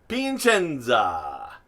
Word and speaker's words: Piacenza: two of them is i'm going to say it like i used to pinchenza i know it's pia and then chenza but pinchenza and i believe the